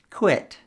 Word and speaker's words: quit: Listen to them and see if you can hear the pronunciation difference. Quit, quite, quiet.